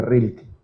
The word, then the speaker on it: Rilke: esto lo dijo un poeta alemán rainer maría rilke así se pronuncia para el poeta rilke que fue un